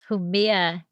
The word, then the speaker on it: Jumilla: Jumilla. I've always read Yes. these words, but, pronouncing them, if you haven't been to the region, it's like, oh, okay.